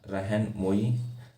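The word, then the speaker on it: Rahnumai: Founded the राम रहन मोई मजदा यंगसंग सभा। ठीक है, तो ये एक सभा फाउंड की गई।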